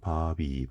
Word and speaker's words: 밥이: 근데 이 비읍이 옆으로 넘어가서 발음하게 돼요. 이 이응은 빈칸이니까. 그래서 발음이 어떻게 됩니까? 바비 인형처럼 바비 이렇게 됩니다.